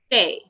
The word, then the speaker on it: T: So the pronunciation of T in French is Te. Okay, Te. Not Te. Okay, not Te. It should be Te.